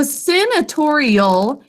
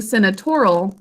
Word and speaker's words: senatorial: So senatorial has that al suffix, which makes it an adjective. But instead of just saying senatorial, we say senatorial. Fingers under your chin to say it, please. Senatorial. 5 syllables.